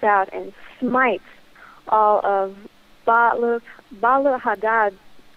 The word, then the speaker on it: Baal Hadad: and smites all of Baal Hadad. I should say Baal Hadi or Baal Hadad, however you want to pronounce it. Both ways are technically correct depending on the language.